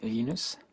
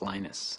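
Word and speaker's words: Linus: your preferred pronunciation um when I speak Swedish it's lenus when I speak Finnish it's lenus when I speak English it's lonus and I really don't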